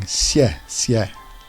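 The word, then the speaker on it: 谢谢: But here the letter X is pronounced halfway between S and Sh. So, S. And the tone on the E is downwards. So it's going xie, xie.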